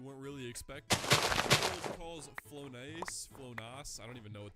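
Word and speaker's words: Flonase: Flonos. I don't even know what that is, honestly. Mommy's special nose medicine. And now my neighbor thinks I do cocaine. Okay, apparently it's pronounced Fllonise and it's just allergy relief medicine.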